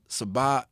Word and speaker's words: Saba: He's been working with Siri, who's Tajay's daughter, Sabat, I think Pivot, or the kids out of Chicago, the newer kids, S-A-B, I don't know how to pronounce his name. Saba, yeah.